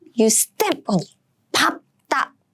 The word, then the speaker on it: 밟다: So if it's not an exception, you are supposed to pronounce the first syllable, as in 밟다, 밟다, right? And actually, many Korean people also say 밟다, 밟다. It's confusing because it's an exception.